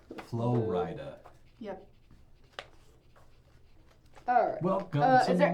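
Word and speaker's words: Flo Rida: It's spelled like Florida with a capital R. Flow Rida.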